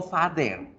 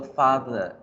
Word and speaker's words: father: Yo no digo father, no se dice father. Aquí la E va a ser reemplazada por el sonido de la schwa. Entonces yo no digo father, digo father, father, father, father, father.